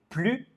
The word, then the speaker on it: plus: Donc on ne prononce pas le S. Il est plus grand que Jean.